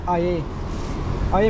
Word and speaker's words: air: I'm getting this I yagong ay in this is not pronounced as air because this is in the Malay language. So it's called it's pronounced ay means water.